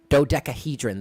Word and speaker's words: dodecahedron: Dodecahedron.